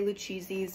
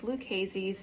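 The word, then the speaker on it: Lucchese: these are liesi boots I used to say lucheses but it's liases in case you don't know how to pronounce that they just need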